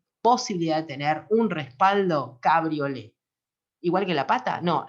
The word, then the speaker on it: cabriolet: con T, es decir, en francés no se pronuncia la T, pero es cabriolet la pata, cabriolet el respaldo.